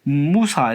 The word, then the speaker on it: 무사: 무사, 모세의 발음이 무사입니다. 그래서 자발무사, 모세산이죠.